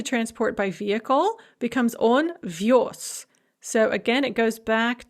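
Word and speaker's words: вёз: course is pronounced visti, the z is pronounced as sa in the masculine form because it is at the end of the word. We have that word final devoicing, so on vios.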